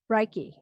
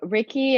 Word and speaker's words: Reiki: aware yeah so ricky and you can pronounce it a bunch of different ways but sometimes i pair it together as the two parts of the word so re meaning universal and key meaning energy and reiki is the universal